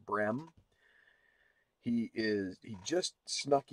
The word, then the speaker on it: Brehm: little research this time his name seems like his name is pronounced Ryan bream he is he just